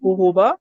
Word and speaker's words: jojoba: Jojoba or jojoba, some people pronounce it jojoba, so it's spelled Jojoba.